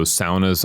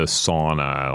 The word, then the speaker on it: sauna: don't know anything about Finland per se, is saunas. So saunas are a Finnish cultural artifact. Okay, well, hold on. We need to address the fact that how I would say it was sauna.